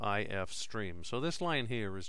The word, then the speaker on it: ifstream: [Pronounced I-F streem] So this line here is just a declaration of a variable.